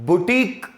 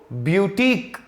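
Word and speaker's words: boutique: जैसे बहुत सारे लोग इसको बुटीक बोलते हैं, बुटीक, और वो भी सही है। और बहुत सारे जगह लोग इसको ब्यूटीक बोलते हैं। तो दोनों प्रोनाउंसिएशन है, या तो बुटीक बोलेगा जिसमें य नहीं लगाएगा, या तो य लगा करके ब्यूटीक बोलेगा।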